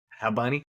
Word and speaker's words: Bad Bunny: You don't say the B's and say Hab Bunny.